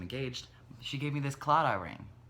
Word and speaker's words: claddagh: she gave me this claddagh ring claddagh it's pronounced like it's about like clawed off like with a GH on the end but it's apparently silent